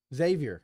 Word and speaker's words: Xavier: Xavier. Yes. No X-Men in Xavier. Oh, that's how I pronounce it. Okay. that's how us Western PA guys pronounce it.